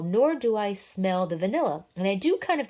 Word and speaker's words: vanille: and last we have tobacco vanille not vanilla vanill with an e at the end i am hoping i'm